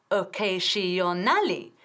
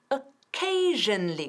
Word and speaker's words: occasionally: Escucha que no estoy diciendo I occasionally. Estoy diciendo I occasionally, con 4 sílabas. Occasionally. Quita esa A. No queremos oírlo, es occasionally. Con ese sonido, shh, shh.